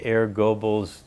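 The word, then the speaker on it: Goebbels: completely it's under air it's under it's under air goal's Ministry of propaganda Global air globals h e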